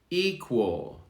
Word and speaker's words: equal: worst verse worst evil equal now this is the q u sounding like a w evil equal evil equal